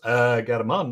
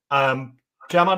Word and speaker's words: Germán: Germán Álvarez. I don't know how to pronounce that properly. It's not German. We know that because he's Spanish.